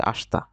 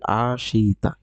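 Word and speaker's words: あした: হবে এরপরে ওয়ার্ডটা আছে আসতা লেখা আছে আশিতা কিন্তু উচ্চারণ করবেন একসাথে আসতা আসতামন এখানে লেখা আছে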